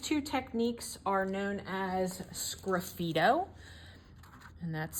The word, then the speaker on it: sgraffito: The next two techniques are known as sgraffito, and that's spelled S-G-R-A-F-F-I-T-O.